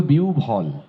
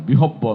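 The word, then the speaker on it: বিহ্বল: হ্যাঁ, একইভাবে বিউভল, বিউভল বিহব্বল নয়। হ্যাঁ, লোকটি বিউভল হয়ে তাকিয়ে রইল, এটি বিহব্বল নয়।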